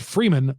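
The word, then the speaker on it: Freimund: It's pronounced Freeman, F-R-E-E-M-A-N, but it's spelled Freeman, F-R-E-I-M-U-N-D.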